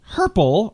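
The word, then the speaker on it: hurple: the day, and it's herple or herkle. H-U-R-P-L-E or H-U-R-K-L-E. And apparently it's the same word. Herple is the one that most people use, which would rhyme with purple, which I've been told had no rhyming words.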